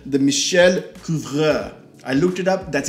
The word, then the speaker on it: Michel Couvreur: hope you can see it, it's called the MICHEL COUVREUR. I looked it up, that's exactly how it's pronounced, so no need to put anything in the comments.